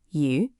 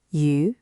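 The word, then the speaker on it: 鱼: For example, the word for fish, yu, sounds like the word for surplus or abundance.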